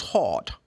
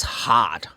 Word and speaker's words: hot: vowel sound, which is this is very British would go like oh, like hot, just hot, hot, hot. American will say, they really open the sound more like that's hot. That's really hot here.